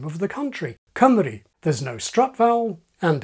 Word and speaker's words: Cymru: is in the Welsh name of the country, Cymru. There's no strut vowel, and above has the same phoneme in both syllables.